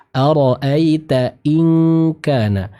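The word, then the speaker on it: أرأيت إن كان: Ingat ketika bertemu dengan huruf kaf maka sempurnakan ang ya, ng ya. Angnya sempurna. Ara'aita in kana. Tadi yang Pak Irfan baca masih agak ngambang, jadi seperti iya. Nah, iya ini kurang tepat. Ya, namun ketika bertemu dengan huruf kaf maka sempurnakan pembacaan ikhfanya dengan dengung yang sempurna.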